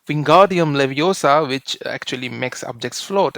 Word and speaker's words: Leviosa: pronounce the spell Wingardium Leviosa which actually makes objects float and it's she tells it's levosa not levosa so the emphasis is on o and not s so though the spell